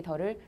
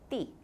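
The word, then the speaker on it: 地: 이 땅지자 더를 예전에는 D라고 읽었죠. 띠. 네, 땅지자 띠. 근데 요즘은 띠라고 읽는 사람들은 촌스럽다고 여깁니다. 그냥 다 더라고 합니다.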